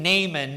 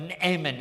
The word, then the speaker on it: Naaman: that actually is a it's a gutteral. It it looks like it's a it's an ayin. Naaman. So, I'm going to be saying Naaman, but Naaman actually is how you say it.